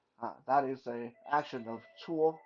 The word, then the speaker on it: 搓: It's pronounced 搓 like CHWO.